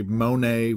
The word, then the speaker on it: Monet: to compare let's say Monet with mayonnaise the only thing I'm pretty sure of is that you're not supposed to pronounce the T in either one the truth is I